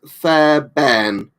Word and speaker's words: Fairbairn: So Flazzy says it's pronounced Fairbairn.